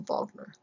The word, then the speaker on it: Wagner: Remember that the Germans pronounce their W's with V's. So if you know the musician Wagner, they don't call him Wagner. They call Vogner.